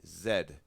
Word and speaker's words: Z: A toque is a hat, a Chesterfield is a couch, and it's pronounced Zed, not Z, Zed.